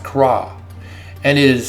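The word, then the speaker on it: קָרָא: I cry out in this passage is one Hebrew word, and it starts with the letter Qoph, and the word is Hebrew Strong's 7121 kara, pronounced kra.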